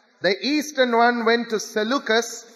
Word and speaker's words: Seleucus: The eastern one went to Seleucus, S-E-L-E-U-C-U-S, Seleucus.